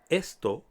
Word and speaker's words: esto: reading much easier our third Spanish word is Esto esto means this neuter in Spanish many words have different genders but for now all you need to know is that esto is used to refer to objects please avoid